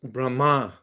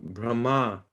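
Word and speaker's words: Brahmā: his name is pronounced brahma it the the the emphasis is on the second syllable brahma you see the line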